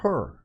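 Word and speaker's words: Hur: the special counsel Mr herur I think he name is pronounced her I've I don't think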